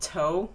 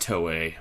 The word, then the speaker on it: Toei: Did I just say that one enemy was called Toe? Did I read that right? I think it'd be pronounced Toei, but yes.